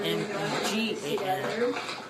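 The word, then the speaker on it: Meagan: Not M E G A N. A N which is pronounced the same Megan but um but I have a A in my name spelling cuz there's a lot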